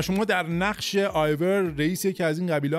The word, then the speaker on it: Eivor: اما به طور کلی قضیه اینه که شما در نقش شخصیتی هستین به اسم آیور که اون یش خونده نه، حالا ما سخت برامون بگیم EIVOR هست که آور تلفظ میشه طبق اون چیزایی که گفتن.